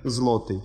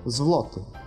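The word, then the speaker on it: złoty: Следующая буква Л, но, видите, едва слышно «в». То есть, например, «злотый», «злотый», «злотый». То есть, не четко слышится «в», но она где-то проскакивает.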